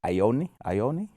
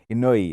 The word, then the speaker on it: Inoue: Then we got Naya Ioni. Did I say his name correct? Inoue, yes.